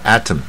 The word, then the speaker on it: atom: 那我们说原子呢 atom 啊，又是大卷舌，